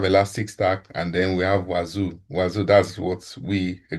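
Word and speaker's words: Wazuh: Then we have Elasticstack, and then we have Wazoo. Wazoo, that's what we are going to use on this lab. So in this lab, you will gain hands-on experience using Wazoo, pronounced as Wazoo.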